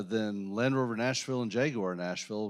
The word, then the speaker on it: Jaguar: It's so uh so they say it's Jaguar. So, that's what it is for the car company.